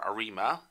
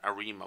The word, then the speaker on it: ARIMA: arima that fits an arima model i pronounce it as arima but other people might say arama i'm not quite sure anyway so we fit